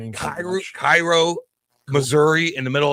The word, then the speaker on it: Cairo: Kyro Cairo, Missouri in the middle of nowhere that has 1500 people. Like, my god, that's it's Caro.